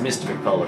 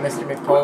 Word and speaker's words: Mr_McPolo: You know, and, it's pronounced Mr. McPolo if you get it. Yeah, Mr. McPolo.